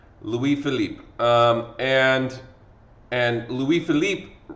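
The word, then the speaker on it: Louis-Philippe: with a new king and his name is Louis Philip Louis Philip okay um is how you pronounce his name a lot of kids look at that and they think it's like Louis Felipe or something like no all right it's he's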